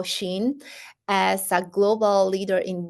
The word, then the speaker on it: Shein: Actually, is pronounced as Shein, and this is a short version of Shein Insider.